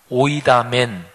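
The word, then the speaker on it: οἴδαμεν: 헬라어 원문으로 말하면 오이다멘 이렇게 발음합니다.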